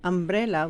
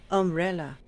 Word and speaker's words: umbrella: deeper inside the mouth so we don't say um umbrella we say uh umbrella underwear upside down on fire